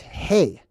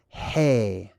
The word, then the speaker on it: he: love beth kimel dalet hey this is number five one two three four five now in phoenician this is the letter hey that's how it's pronounced like hey how's it going it's the same exact